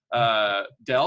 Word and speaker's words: Dell: where a computer company it rhymes with hell Dell or some people would